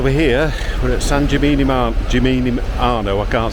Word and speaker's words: Gimignano: Gimignano.